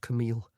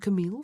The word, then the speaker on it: Camille: He gave her name its proper French pronunciation, eel at the end instead of ill as her family tended to do.